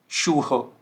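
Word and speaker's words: Schuh: तो देखिए एस से हा, एस से हा और एस से हा साउंड क्या कर रहा है, श, राइट।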